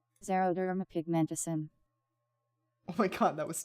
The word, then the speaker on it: xeroderma pigmentosum: Pronunciation. Xeroderma pigmentosum.